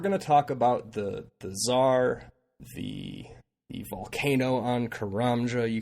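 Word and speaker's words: TzHaar: So Tsar is actually TZ capital HAAR. Oh. Pronounced ZAR.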